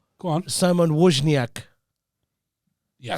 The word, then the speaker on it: Wozniak: Simon Wozniak. Yeah, It's not bad. Wozniak is meant to be. Wozniak. Like a V.